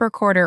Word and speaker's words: record: Learners learn tape recorder or record player as a noun in school. And then for years they say, I need to record this, when they mean record.